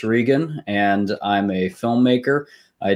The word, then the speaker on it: Regan: now hey everybody and dylan was right that is how you say my name peter j s regan so there you go